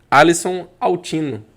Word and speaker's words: Alison Autino: Então estamos aqui com uma celebridade, isso mesmo, celebridade aqui no mundo da propriedade intelectual e inovação, Alisson Altino. É isso mesmo? É isso Pronunciei aí, certo?